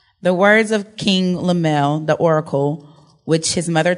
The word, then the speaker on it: Lemuel: King Lemuel.